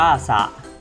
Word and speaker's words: สระ: คำ แรก นะ ครับ สระ อะ อ่าน ว่า สะ สะ สะ อ่าน ว่า สะ ทำไม ไม่ อ่าน ว่า สะ เพราะ เรียน ไป แล้ว นะ ครับ ศรส. รอ เป็น คำ ควบ กล้ำ ไม่ แท้ นะ ครับ หา รอ